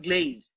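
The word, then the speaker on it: glaze: গ্লেস দেয়, গ্লেস। এটা হবে গ্লেজ।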